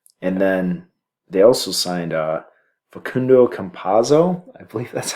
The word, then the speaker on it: Facundo Campazzo: And then they also signed Facundo Campazzo. I believe that's how it's pronounced.